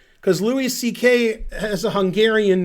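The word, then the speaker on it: Székely: had that name and the pronunciation in english is close to ck not zekely which you would say if you were american like me you would say ck because it's it's you know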